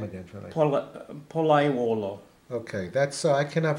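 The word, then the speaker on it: Pollaiuolo: Palaiuolo. Okay, that's I cannot pronounce that name.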